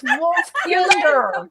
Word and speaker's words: Wolfkinder: The first time I heard you say kinder, I was like, kinder? That's a weird way to pronounce that, Belle. You fucking Tennessee. That's how they say it in Tennessee, kinder.